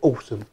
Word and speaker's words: Alxum: was sent to me from a company called awesome and they even told me how to pronounce her name as how they pronounce it awesome so I think they're awesome get more thumbs